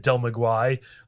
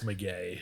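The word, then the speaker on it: Del Maguey: Listen, I'm all about trying to pronounce things as correct as possible because I got flamed for how I said Del Maguire. Oh my God. It's McGay.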